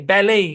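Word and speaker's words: ballet: ব্যালেই, gourmet, অফেন বা অফটেন, এটাকে দুই ভাবে উচ্চারণ করা যায়।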